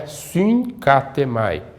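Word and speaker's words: συγκάθημαι: do ki, na pronúncia, o primeiro gama ele tem o som de N, né? Então é fincatêmai.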